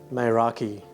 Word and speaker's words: Meraki: Now, according to Google, the word Meraki, pronounced Meraki, is derived from Greek language and literally means